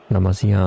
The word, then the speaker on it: La Masia: And uh La Masia's keep on producing these La Masia, I think it's pronounced.